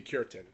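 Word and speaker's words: Cureton: So, I think his last name is Kurin. It has to be Kurin. It is Kurin.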